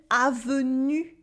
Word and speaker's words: avenue: if you learning french like une avenue une un venu ils disent hussam kengne repeat after me une avenue it is not to ou sound et is not have